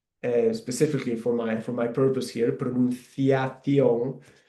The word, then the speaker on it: pronunciación: for my purpose here, pronunciación. You can see there that the C sound when I pronounce it, it sounds a bit like the TH in English, like thunder.